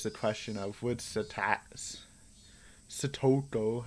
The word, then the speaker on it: Satoko: Satoko, I almost went back to my old Satako.